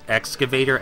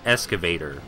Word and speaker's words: excavator: important one, is that Nikolai mispronounced excavator as escavator, and the subtitles took note of that.